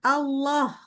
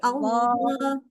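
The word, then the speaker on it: الله: Ini arah suaranya, dia itu kan Allah itu memang tafkhim ya, pangkal lidah naik. Ya, pangkal lidah naik. Tapi arah daripada suara jangan ke arah langit-langit, tapi ke arah luar. Jadi Allah, Allah, keluar, harus keluar.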